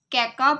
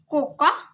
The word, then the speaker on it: cocoa: It is also known as caca butter, but we pronounce it as coca butter.